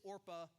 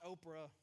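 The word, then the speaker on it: Orpah: a Bible character and her actual name is orpa not Oprah so just we were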